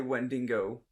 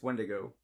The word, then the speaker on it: Wendigo: To be fair, a lot of people say Wendigo, but it's Wendigo.